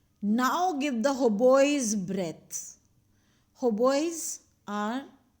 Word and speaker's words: hautboys: Hautboys are, you don't have to read the T here. The T is silent.